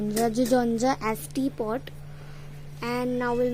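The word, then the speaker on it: 주전자: Now I'll teach you how to pronounce it. Jujonja. Jujeonja, Jujonja as teapot.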